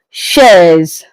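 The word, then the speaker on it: chaise: So chair in class in English but in French it is pronounced as shares.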